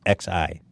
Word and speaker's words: Xi: It's just Xi.